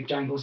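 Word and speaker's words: Djangles: But that is Jangles spelled with a D. So it's D. Like Django Unchained. Yeah, the D is silent.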